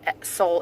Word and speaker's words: Sole: It's spelled S-O-L-E with a little accent over the top. You can just write S-O-L-E and it will still pop up. Soul, it looks like soul water, like the fish.